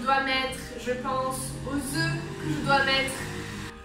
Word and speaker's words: œuf: Je pense à la farine que je dois mettre, je pense aux œufs que je dois mettre. Un œuf, on prononce le F, an egg, un œuf.